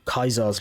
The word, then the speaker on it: Caesar: have more dealings with caesar's legion or kaiser's legion as it's pronounced in this game um sure we'll see